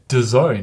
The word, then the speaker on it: DAZN: I went on YouTube and they had a bunch of pro athletes who were like, "How do you pronounce this?" And they were all like, DAZN, obviously.